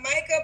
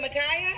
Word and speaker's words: Micah: All right, so we got Micah Peoria, 51. What's the age range? Is it Micaiah? How you say it again? No, it's Micah.